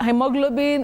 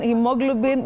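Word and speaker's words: haemoglobin: that say heo heo that A and E in heo they function as a diagraph that is a combination of two letters representing one sound Betty so you say he with a long high front sound e hemoglobin hemoglobin but this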